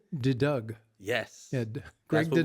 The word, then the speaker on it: De Deugd: I'll get this Dutch name pronounced De Deugd.